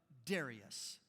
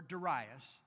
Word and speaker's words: Darius: In the first year of Darius, or Darius, depending upon which accent you put the syllable.